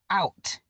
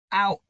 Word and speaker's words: out: expect it to t out now the underlined o and u make up the tricky part of their word these letters are pronounced as ow ow they work together to say ow so when reading you